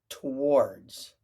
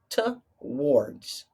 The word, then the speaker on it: towards: Towards. Sometimes people in the United States pronounce it as if the T and the W are a consonant blend or digraph. And we say towards, towards.